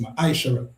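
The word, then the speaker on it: מעשר: It means tent in the Hebrew and is pronounced maishara.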